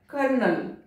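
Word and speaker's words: colonel: इसको पॉल्यूशन नहीं पॉल्यूशन, इस वर्ड को देखें इस वर्ड में ओ साइलेंट है लेकिन इसका प्रोनाउंसिएशन कैसा होता है कर्नल कर्नल, कारण वही है आप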